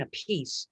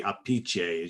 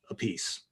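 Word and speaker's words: Appice: said you know what just pronounce it the way it's spelled a piece okay that's what i've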